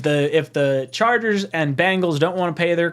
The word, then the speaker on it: Bengals: if the Chargers and Bengals don't want to pay their quarterbacks Bengals Bengals Bangles I always say that name wrong Ben gals the Ben gals that's a weird way